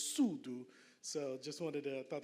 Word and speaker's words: Sudu: those that were wondering and correct pronunciation is Sulu so just wanted to